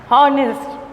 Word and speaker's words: honest: The H here is silent letter. We are not going to pronounce the word honest.